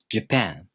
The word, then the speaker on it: Japan: For example, Japan. The stress falls on the second syllable.